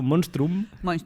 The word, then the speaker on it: monstrum: es complicado viene de monstrum estaba intentando hacer graciar veng se pronuncia casi como Castellano monstrum viene de monstrum e